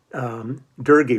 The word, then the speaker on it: Doerge: think actually shaker heights dergy which rhymes with fergie they they put on there because nobody can ever pronounce his name i always